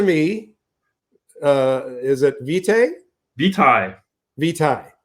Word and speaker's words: vitae: Vitae. Vitae is the proper pronunciation.